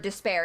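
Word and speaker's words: D'Spayre: up like the word despair in Marvel so his name is despair but it's spelled D apostrophe s PA why re because the comic books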